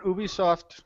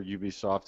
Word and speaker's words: Ubisoft: tier release because well doesn't Ubisoft or Ubisoft I can still never get it right no you said it right the second time okay I mean Ubisoft